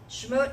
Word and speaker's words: Shemot: Shemot is, well, it's Shemot or Shemot. It depends on whose pronunciation you're following. One of the fun things about Hebrew is the vowel markers aren't there in Torah. So, depending on if you're Ashkenazi, if you're Sephardic, if you're coming into it from another perspective, the modern pronunciation is usually Shemot.